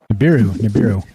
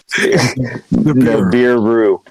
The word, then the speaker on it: Nibiru: I'm sitting there talking with the kids one night, and they're talking about Nibiru. I'm not saying it right, am I, Mike? Nibiru. New beer. Yeah, beer, right. Ash taught me. Nibiru.